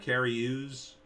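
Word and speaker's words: Cary Elwes: name uh you got carrie ooze is how you say that carry use use use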